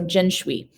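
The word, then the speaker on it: 辛追: The rest of her name is Jin Shui. So Jin, the Xin would be pronounced Jin, like the gin, the cotton gin, the drink, and Shui, S like Sui, like Schwee, like so Jin Shui.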